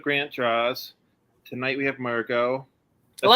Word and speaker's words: Mergo: Tonight we have Mergo. That's Hello. how you pronounce it, right? Yep, Mergo.